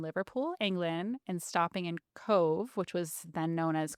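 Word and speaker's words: Cobh: Leaving from Liverpool, England, and stopping in Cove, which was then known as Queenstown, Ireland. Oh. Um, fun fact, Cove is spelled C O B H because the Irish have Gaelic, which means V, which is actually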